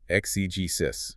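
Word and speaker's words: exegesis: Exugesus. E ge s i s. Excis.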